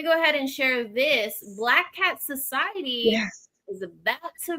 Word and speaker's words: BLAQQAT: And if you look at it the way I spell it, BLAQQAT, Black Cat.